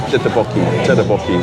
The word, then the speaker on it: tteokbokki: Tteokbokki.